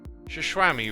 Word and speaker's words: Shishwami: It's pronounced Shishwami, right? Yeah, Shishwami, Shishwambam, Shishwimbim. They're all good.